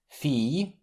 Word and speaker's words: fille: This letter combination is pronounced like A in the English word feed, followed by a Y sound like in day. I. Fille, famille, billard.